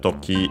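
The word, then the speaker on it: とき: By the way, I didn't mention that toki is accented on the last syllable.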